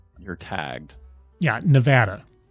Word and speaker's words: Nevada: wrong you're tagged yeah Nevada you go like it's Nevada and it's Nevada so now I know and